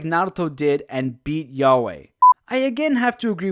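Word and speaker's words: Yhwach: natto did and beat Yahweh it's you ha but it's written like yeah way so I can't stop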